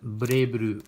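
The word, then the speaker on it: BlazBlue: I know it says Blaze Blue. Blaze. I don't know. They pronounce it Blay Blue.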